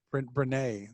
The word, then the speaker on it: Brené: And you mentioned I think it's Brene is how you say it, right? Yeah, I think so. I always say Breen.